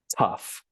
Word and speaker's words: tough: And then this GH is pronounced like an F. So the word here is pronounced tough, okay?